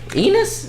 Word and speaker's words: Enis: like that like obviously your last name rhymes with dinosaur I mean penis yeah hey I had